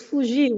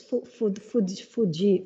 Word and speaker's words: fugir: And I pronounced it wrong, and it became the other, which is Fuji.